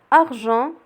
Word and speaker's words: argent: argent كذلك كاين لو son on ولكن كيتكتب avec EN.